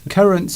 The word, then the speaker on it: currant: That you can put into chocolate, into cooking, but it's spelt with an A, currant, A-N, but it's pronounced currant. Yes. Pronounced the same way.